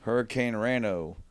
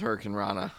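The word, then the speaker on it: Hurricanrana: Like, Hurricane Rano. Like, where do you get the O? Rano. Yeah, because it's Hurricane Rana. Yeah. Not O.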